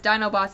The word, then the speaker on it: Dinobots: stop the Dinobots and when he says Dino Bots it's spelled D i n o bots and Sun trigger stops him and goes no it's Dinobots Dy and they have this